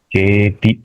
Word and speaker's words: चेति: चेति, टी का उच्चारण दीर्घ नहीं करना है।